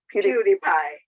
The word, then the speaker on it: PewDiePie: uh you mean the most popular youtuber name pewdiepie pewdiepie thank you and for speaker number two